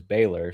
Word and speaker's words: Baylor: Like the correct way to pronounce my name is Baylor.